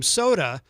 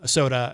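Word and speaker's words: Sotah: That is called Sunrise, and that is the brand new track from Soda, which is spelled S-O-T-A-H.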